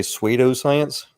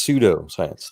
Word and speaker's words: pseudoscience: you i've heard say sweeto science yes i probably how do you pronounce it it's pseudo science soda science soda science